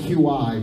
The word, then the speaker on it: Qi: So wireless, it's spelled QI, but it's pronounced Qi.